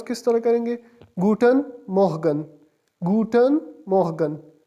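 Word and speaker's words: Guten Morgen: गुटन मोहगन। गुटन मोहगन। गुटन good के लिए निकला है और मॉर्निंग के लिए मोहगन।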